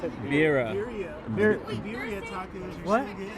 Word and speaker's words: birria: Say like a gringo, that's why. Birria. All right, Birria. dude. These Birria. birria. I gotta roll the R, right? Gotta roll the R. So these birria tacos are so good.